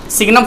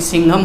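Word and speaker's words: signum: अभी आप बस इतना जान लो कि एक सिग्नम फंक्शन होता है, कोई सिंघम फंक्शन भी इसको बोलता है, लेकिन अपने लोग सही प्रोनाउंसिएशन करेंगे, सिग्नम फंक्शन है ना, सिग्नम मॉड्यूलस GIF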